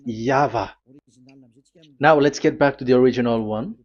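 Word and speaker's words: Yahweh: the phonms the pronunciation pronunciation is equal V. It is V Y H V H. So it is Yava.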